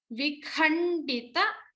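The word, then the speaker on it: विखण्डित: So stress on the mahaprana kha and vikhandita. So we saw the na and da even here, akhanda. We see the another word here, vikhandita. So we stress on the da here.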